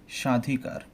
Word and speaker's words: স্বাধিকার: এই কারণে আমাদের এখানে বয়ের উচ্চারণটা হবে না।